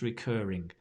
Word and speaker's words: recurring: Now there's a cat here, Mysterious Mist, who needs, how do I pronounce recurring? I'm assuming it's not the cat asking me. Recurring. Recurring. And the stress on the cur.